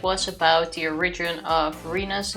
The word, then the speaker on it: Rena: Renata. It's not Renata. But it doesn't matter. First things first, apparently it's not supposed to be pronounced Reina, but Rena.